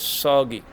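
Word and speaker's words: 서기: is Stan's Stan's we the word for Stan's is soggy and I usually say like soggy cereal so it's the same pronunciation different language soggy means Stan's walking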